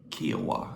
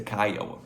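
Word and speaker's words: Kiawah: Kiwa. I tell you what, let me Google that real quick. Here we go. Kya. Kaioa. Okay, I was wrong. It's the Kyoa.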